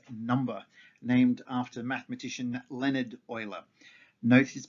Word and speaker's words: Euler: known as euler's number named after mathematician leonard euler note is pronounced euler and not euler which is one of the